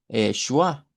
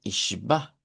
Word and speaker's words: Schwa: repente se me sale y digo schwa, pero es que schwa es en el inglés, vea, y aquí es shba. Entonces noten la diferencia entre decir schwa y shba.